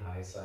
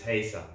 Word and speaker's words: Heisa: be one of those Heisa band, Heisa music, Heisa. You know, all bands have this generic thing behind their name. Don't say Heisa in a German accent. It's Heisa.